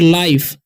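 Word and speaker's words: life: और लाइफ, जब भी किसी वर्ड के सेकेंड में आई हो और लास्ट में ई हो, ठीक है, तो आई का उच्चारण आई ही रहता है और ई साइलेंट हो जाता है। ठीक है, तो एल से क्या होता है ल, और आई का उच्चारण आई होगा तो लाई पढ़ेंगे। ठीक है, एफ से क्या होता है फ।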